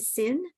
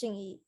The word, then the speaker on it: Xingyi: Is it Sin? Yeah, it's Xingyi.